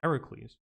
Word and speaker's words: Heracles: Or dead, nor those who live at the pillars of Heracles, using the Greek pronunciation here, nor those that see, nor those they or others regard as inferior or much superior.